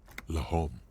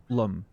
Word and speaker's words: Lum: correct grammar is LOM well that okay that is not how it's pronounced though narrator but you actually ignore the H completely Lum that's the correct way but fair fact check